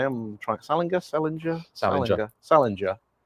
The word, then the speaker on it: Salinger: Salinger. Salinger like ginger. Not salinger like apparently.